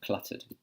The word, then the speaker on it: cluttered: What I would say is when you've got this T sound here, the T sound almost sounds similar to the D sound. The tongue is in the same place, okay? So cluttered. Not cluttered. Not cluttered. So you're not moving your tongue back. It's hitting the same place just behind your front two teeth here.